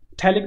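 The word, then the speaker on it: phthalic: ये थैलिक जो एनहाइड्राइड होता है पी जो होता है साइलेंट होता है। थैलिक भी बोल सकते हो आप। अपनी-अपनी प्रोनाउंसिएशन है।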